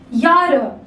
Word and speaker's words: Jahre: A is pronounced as Y. Jahre alt.